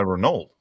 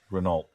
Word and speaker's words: Renault: Renault. But that's Renault. that's not how they say it. Renault. Who says it? The Europeans. Oh. They say it Renault or something like that.